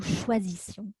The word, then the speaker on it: choisissions: non plus à prononcer, puisque vous avez d'abord le son ch, ensuite le son z Et ensuite, le son S. Nous choisissions.